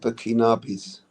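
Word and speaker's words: Burkinabè: How do you say the names? Is it Burkinos? Um, they normally term it burkinabis. Burkinabis. That's what it was.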